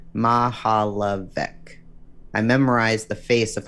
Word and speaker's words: Mihaljevic: found i watched closely i learned to pronounce that difficult last name ma ha la vic i memorized the face